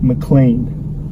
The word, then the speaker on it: McLean: hard time is to pretend there's a little a in there so ma claim like but here it's mclean so anyways let's get